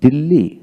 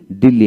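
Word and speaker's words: Delhi: এস T August তারপরে দিল্লি দিল্লি এইচ উচ্চারিত হয় না স্কলার স্কলার জন জন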